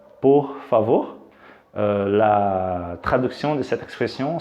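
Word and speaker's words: por favor: de la seconde partie de l'expression alors la prononciation correcte c'est pour favor ok pour favor pour favor s'il vous plaît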